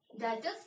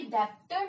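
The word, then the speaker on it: debtor: डेटर्स की बात करें, यहाँ पे डेप्टर नहीं होता है, बी साइलेंट होता है, तो इसे हम बोलते हैं डेटर।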